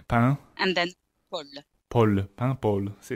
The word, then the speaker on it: Paimpol: Paimpol. Paimpol. And it sounds more like bubble than a town name. Yeah. Think of bread. Right. Pain. And then pol. Pol. Paimpol.